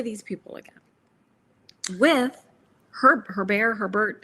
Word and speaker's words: Herbert: we could play these people again with her herbert.